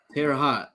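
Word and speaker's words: Terre Haute: Um, I don't want to pronounce that city. Uh, Terraot. Terra hot.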